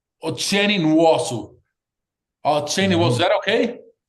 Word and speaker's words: Nwosu: Say it to us because I don't want to pronounce it incorrectly. UASu is that okay?